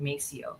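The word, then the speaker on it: Maceo: Uh yeah, so they didn't they didn't name them they named them mo but in English they pronounced it Macio.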